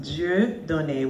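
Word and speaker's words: Dieudonné: My name is actually pronounced Dieu donné, which means God given.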